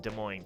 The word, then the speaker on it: Des Moines: close to Des Moines nor are they in Des Moines County and then if you go over towards Chicago there's Des Plains you pronounce the s in Des Plains but you